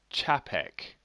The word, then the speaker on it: C24P3Q: My nick is pronounced Chapek.